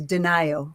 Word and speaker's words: Denio: So my family says Denio for my last name, rhymes with Ohio.